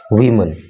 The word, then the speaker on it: women: At least, कम से कम, 60 people, 60 लोग, including, मिलाकर, वीमन, महिलाओं को। देखिए, जब आपको एक से अधिक महिलाओं को बोलना होता है तो आप इसको बोलते हैं वीमन और स्पेलिंग हो जाती है WOMEN।